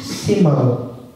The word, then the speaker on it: Simão: Este nome Shimon transliterado em em caracteres latinos, a pronúncia fica Simão.